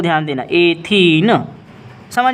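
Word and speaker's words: ethene: इन लगता है, मतलब इसका नाम हो जाएगा एथीन। प्रोनाउंसिएशन को ध्यान देना, एथीन।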